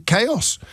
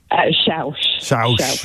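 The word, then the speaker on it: Chaves: Have I pronounced that incorrectly? I think I asked you that last time. You have. You've pronounced it incorrectly twice so far. Well, I'm nothing if not consistent. I'm nothing if... How is it meant to be pronounced? Shoush. Shoush.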